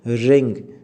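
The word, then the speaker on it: wring: उन्हें तोड़ने को हम इंग्लिश में बोलते हैं रिंग ठीक पीस पहले होती डब्ल्यू आर आई एन जी इस में डब्लू साइलेंट होता है ठीक अब आपको पूछना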